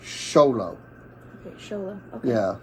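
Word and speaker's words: Xolo: Miguel and cobai cholo is not cholo it's Zolo Jolo that makes sense sh no it's sholo show them okay yeah like the X yeah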